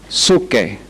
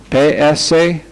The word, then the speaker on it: psuche: Alma, la palabra griega es psuche, P-S-U-C-H-E, psuche, P-S-U-C-H-E. El alma es la parte de una persona, es la autoesencia de una persona.